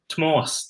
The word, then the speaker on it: Tomas: Tomas.